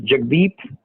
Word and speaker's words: Jagdip: But if any of you are interested in daily updates, my direct email address is Jagdeep, which is spelled Jagdip, J for Japan, A for Apple,